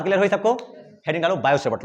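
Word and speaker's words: Biot–Savart: Heading डालो, बायो सेवर्ट लॉ, बायो सेवर्ट लॉ, बायो सेवर्ट का नियम। हिंदी वाले टी साइलेंट रखेंगे, मतलब बायोट मत लिखना, हिंदी वाले बायो ही लिखना।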